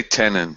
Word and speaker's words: Tenon: behind Tenon is great first question what how do you say is it tenin or how do you say it I say tenin yeah yeah all right